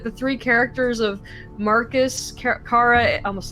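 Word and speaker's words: Kara: of looked at the three characters of Marcus Cara it almost said Cara Jesus Christ it's yes Cara why did everybody pronounce it Cara it's cara cara and Connor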